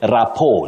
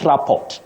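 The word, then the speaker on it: rapport: you say morale and you say rapo not raport and not morale morale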